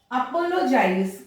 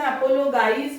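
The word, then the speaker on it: apologize: अपोलोजाइज, कई बच्चे इसको पढ़ाते हैं अपोलोगाइज पढ़ते हैं, उनकी भी गलती नहीं है. इन्हीं बातों को क्लियर करने के लिए मैं ये जी साउंड आप लोगों को सिखा रही हूं. अपोलोजाइज, जी के बाद में आई आया तो हम यहाँ पे क्या करेंगे, इसको ज साउंड करेंगे.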